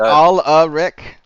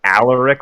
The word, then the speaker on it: Alaric: your name right okay is it not all a rick it's more like Alaric like I think the name Albert all